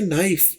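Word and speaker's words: knife: टिप और देते चलें जब भी एन से पहले के आ जाए तो उसे प्रोनाउंस नहीं करते जैसा कि नाइफ के एन आई एफ ई नाइफ उसमें भी के प्रोनाउंस नहीं किया जाता तो यहां पर भी नोन एन की आवाज है के की आवाज नहीं है ही शुड हैव नोन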